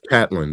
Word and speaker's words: Catlindt: It's Catlindt. The D and the T is silent.